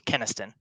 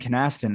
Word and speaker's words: Kynaston: It's totally cool, but it's Keniston. Well, I am so glad because I've been saying Canaston, and I apologize for that because typically what